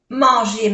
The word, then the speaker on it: manger: A-N es una vocal nasal que se pronuncia en. E-R-E. Manger.